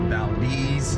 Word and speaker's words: Valdez: now Deez Nuts anyways it's spelled Valdez but they call it Valdez um I'm gonna go